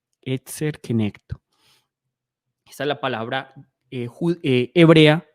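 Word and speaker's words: עזר כנגדו: Esta es la palabra en griego para ayuda idónea y se pronuncia así, eser kenecto, ¿cierto? Eser kenecto. Eser kenecto.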